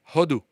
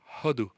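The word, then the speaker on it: הודו: You know how you say it? Hodu. Hodu. Same root. Same root of giving thanks.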